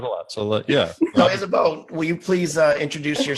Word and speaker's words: Isabeau: It's Isabeau, like Isabeau in your hair.